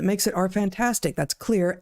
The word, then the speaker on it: Xlear: That's Xlear, Xlear, pronounced clear.